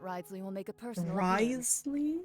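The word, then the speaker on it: Wriothesley: will make a personal rley is that how you say his name Risley you're right I've got to treasure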